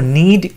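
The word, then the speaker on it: knead: দেখো নিড, KNED, নিড, এখানে কিন্তু কে উচ্চারণটা হয় না, বাট কে রয়েছে, নিড, কেয়ারফুল থাকতে হবে এটাই।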